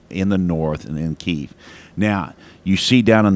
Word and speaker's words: Kyiv: It's really easy to say Kiev, but it's pronounced Kyiv.